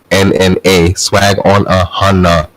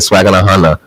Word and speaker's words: SWAGGONAHUNNA: Yes, Swag on a Hunter, my Instagram, SWAGGONAHUNNA, Swag on a Hunter. That's how you say it, Swag on a Hunter. You don't have to slow down and say it, Swag on a Hunter.